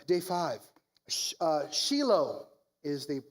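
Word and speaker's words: Shiloh: Uh Shilo is the correct pronunciation. I learned it's a shilo. You you emphasize the low.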